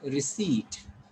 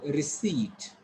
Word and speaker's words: receipt: This is receipt. So this should be short. This should be long. You have to call it receipt.